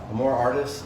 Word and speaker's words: Amor Artis: more artists which i just learned how to pronounce that properly more artists in uh in fort mill south carolina and